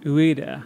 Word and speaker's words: Ueda: Fumito Ueda. Ueda, yeah, okay.